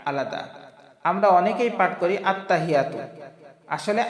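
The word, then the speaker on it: التحيات: সম্মানিত দর্শকবৃন্দ আমরা এখানে খেয়াল করি আত্মা আলাদা হিয়া আলাদা আমরা অনেকেই পাঠ করি আত্তাহিয়াতু আসলে আত্তাহিয়াতু পড়লে আমাদের ভুল উচ্চারণ হবে আমাদের খেয়াল করতে হবে এই যে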